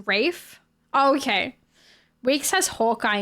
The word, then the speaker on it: Ralph: It's Ralph, pronounced Rafe.